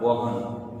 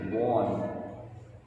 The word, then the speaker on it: Vaughan: Here not Vaughan, but it is Henry Vaughan.